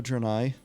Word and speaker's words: Draenei: that the Night Elf, more of a Draenei, Draenei guy, there you go, it rhymes, myself, but you see, for